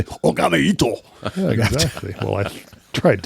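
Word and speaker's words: 拝一刀: Whole idea is the Lone Wolf is Ogami Itto. And he is You can't say it like that. You have to say Ogami Itto.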